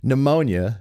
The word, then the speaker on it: pneumonia: a a a typo, pneumonia with a P has a P in front of it, a silent P like pterodactyl.